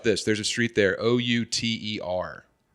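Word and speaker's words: Outer Drive: You say outer. They all say otter there. Otter drive.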